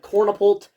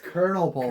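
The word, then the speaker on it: Kernel-pult: gets outclassed in every way by plants like Cornipult, head butter lettuce. Even Hurricane kind of does its job better. Do you not say it Cornipult? It's Colonel Pole.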